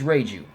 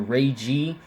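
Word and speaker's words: Reiju: but yourself this is ray jus and for everybody that I've been saying I have been saying ray Jews name wrong I've been calling her ragey but her name is Ray jus so I apologize for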